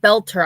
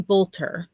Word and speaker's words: Boelter: And I think he said belter. I was saying Bolter, but I think it's Belter. I was mispronouncing it.